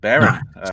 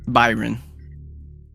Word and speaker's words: Byron: Baron. Did I pronounce right this time? Byron. Byron. I'm gonna get it before this game's over. Think of it like Byron.